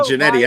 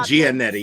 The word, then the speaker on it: Giannetti: Oh, you do pronounce it Giannetti. I've been saying Giannetti.